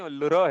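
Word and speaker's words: ऌ: और यहाँ पे 5 लघु अक्षर लिखना थे, अ, ई, उ, री, और किसने ल लिख दिया, ल नहीं लुर है, लुर, हाँ बीच में आएगा।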